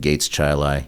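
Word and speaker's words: Gates Chili: yeah uh you know like like most play places they pronounce it Gates chai you know they pronounce words differently than everybody else you know so uh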